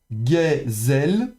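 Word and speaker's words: גֶּזֶל: Ensuite on a Gezel. Alors pour rappel aussi, le tséré et le ségol se prononcent de la même manière.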